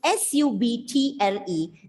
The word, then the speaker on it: subtle: And in the third line, you came across a new word, S-U-B-T-L-E. The pronunciation of the word is subtle, where B is silent.